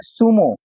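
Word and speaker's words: zumo: तीसरा एग्जांपल दिया है सुमो। तो यह दिया है जेड के आगे यू दिया है। इसलिए इसको हम स पढ़ेंगे। और इधर दिया है Z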